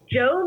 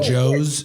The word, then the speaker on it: Tso: How do you pronounce it? Joe, like Joe. Really? I didn't know that. Well, that's how I pronounce it. Some people get really complicated and then they say like so's like TSO how it's spelled, but it like doesn't matter.